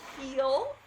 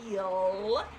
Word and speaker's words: heal: to do something, to heal. Here, make sure you're making a long E sound. Heal. The L, is pressing up here.